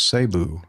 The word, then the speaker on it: Cebu: He says the Tagalog pronunciation is sabu.